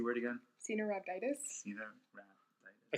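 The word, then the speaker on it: Caenorhabditis: Because I can't pronounce it. Cardinal. Cenorhabditis. Yep. Cenorhabditis.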